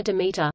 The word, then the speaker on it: Demeter: ancient Greek religion and mythology Demeter attic Demeter Demeter pronounced DM TR Doric damata damned her is the